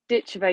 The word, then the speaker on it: Ditcheva: Is it Dakota Ditcheva, like the English would say, or is it Dakota Ditcheva? Because I've heard both. Ditcheva, yeah, you say it Okay.